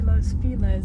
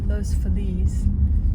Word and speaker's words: Los Feliz: And I don't know why they say Los Feliz. It should be Los Feliz if we're being proper. But I think it's another white people. We did it, white people. Can't pronounce it properly.